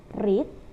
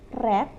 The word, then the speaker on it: read: Read, read, membaca. Nah, read ini sebenarnya tulisannya sama, tapi dibacanya berbeda. Yang pertama itu read dan yang kedua itu read.